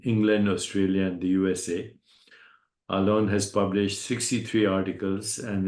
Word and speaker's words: Alon: Am I pronouncing your name correct, Alon? Alon?